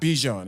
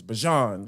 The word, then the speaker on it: Bijan: guy on the announcer was like it's not Bijan it's Bajan like all right yeah we're gonna call him